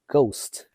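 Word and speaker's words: Gost: Now you may be tempted to say Ghost, although it's spelled G-O-S-T. It goes by Ghost.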